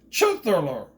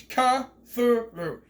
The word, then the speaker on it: Cthulhu: pissed me off because they pronounced the almighty overlord at cthulhu as chief thriller the is wrong with you you don't know how to say the name right it's ka through get it right don't